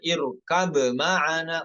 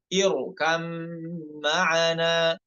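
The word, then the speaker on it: ارْكَب مَّعَنَا: Nomor 28, irkam ma'ana. Idghamnya idgham kamil, bukan naqis, bukan irkab ma'ana, bukan, namun irkam ma'ana.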